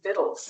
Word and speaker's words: victuals: thought of as victuals is apparently the correct pronunciation is viddles.